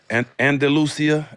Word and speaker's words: Andalusia: Andalusia, Alabama. That's how you say it.